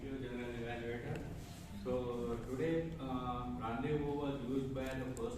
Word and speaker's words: rendezvous: The biggest relief was after lots of time, I learned that you don't have to use the word Z. I used to pronounce it as Zandavu and all that. When someone told me rendezvous, oh wow, good.